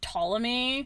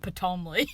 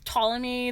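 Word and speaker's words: Ptolemy: name or the word Tommy. I don't. You don't. Also, just uh for people who are listening and not reading, it's a PT. The P is silent.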